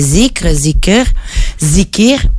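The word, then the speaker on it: ذكر: appelle le rappel, le dhikr. D'ailleurs, ça aurait pu faire partie des mots. Voilà, avec plusieurs couleurs suivant le pays. Plus on va en Asie, plus on va le prononcer zikr.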